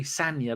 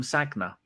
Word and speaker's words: Sagna: Until after Bakary Sanya left, I always called him Sagna. I didn't even know his name was Sanya.